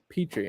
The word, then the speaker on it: Pitre: how do you say your last name petrie petrie okay very cool yeah i saw somebody else